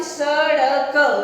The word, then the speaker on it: सड़क: ड़, यानी हम सड़क, तो उसमें ड़ का उच्चारण होता है, जैसे ये देखिए सड़, ये जो आपका ड़ लिखा है यहाँ पे लिखेंगे, और क, तो इसमें ड़ का उच्चारण होता है, तो इसको बोलते हैं सड़क।